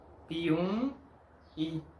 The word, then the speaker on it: Piumhi: Como se puede ver, la M es parte de la sílaba anterior, no de la próxima sílaba. Esta M nasaliza la letra U, pero no tiene sonido de mi con la letra I.